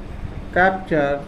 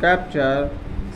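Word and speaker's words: capture: मतलब दोस्तों, यदि किसी वर्ड में टी यू आर ई आता है तो टी का उच्चारण च होता है।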